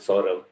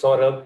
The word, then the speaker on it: Saurabh: also let you know how to pronounce my name unfortunately i don't have a short form so you will have to make do with sora but i i feel it's quite simple so saurabh is the name uh janice and